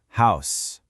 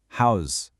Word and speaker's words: house: On the left, you've got the noun, pronounced with that soft S sound, house. But look at the right, it can also be a verb, and the sound actually changes to a buzzing Z sound, house.